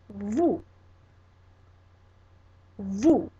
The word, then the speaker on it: vous: But this word is vous, vous, and it's spelled V-O-U-S.